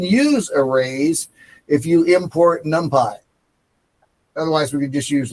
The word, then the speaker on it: NumPy: Numpy. Nu m p y. Numpy pronounced numpy.